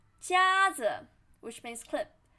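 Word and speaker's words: 夹子: of this character 夹夹子 which means clip 夹子夹子夹子 flat tone 夹子 and here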